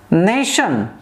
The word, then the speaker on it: nation: stressed in the world like nation first syllable stress and the word like